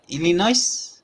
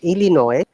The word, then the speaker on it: Illinois: same way once again illinois debris shashi there is no s sound and also if you